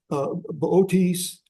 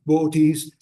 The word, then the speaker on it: Boötes: Anyway, that's so it's really between Boötes, that's how I pronounce it, Boötes and Hercules, the 2 constellations.